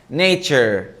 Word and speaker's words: nature: بص لو قبلها متحرك هتنطقها كده تشر، يعني هتنطق معايا حرف التي. نيتشر، قول معايا نيتشر.